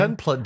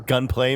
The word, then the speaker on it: Gunpla: I don't mean to insult your gunplay, maybe gunpla. The You know, I mistakenly thought it was short for Gundam Play, but it's Gundam it's plastic. plastic, yeah. It's short for plastic, so I assume it's